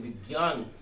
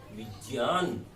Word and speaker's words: विज्ञान: तुरंत, जो आपकी हैबिट में है, आदत में, विज्ञान तुरंत आपको रिजेक्ट कर सकता है एग्जामिनर, और कर देगा, क्योंकि ये अशुद्ध उच्चारण है। इसका शुद्ध उच्चारण होना चाहिए विज्ञान, क्योंकि ज और य का सहयोग हुआ है।